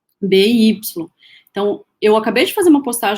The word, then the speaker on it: SCOBY: Na verdade, eu devo estar falando errado, né? Porque se a gente for pronunciar, talvez fosse SCOBY. Porque quando a gente fala Scooby, a gente lembra do Scooby-Dooby-Doo, né? E não é. O Scooby do desenho tem 2 Os, esse SCOBY é SCOBY.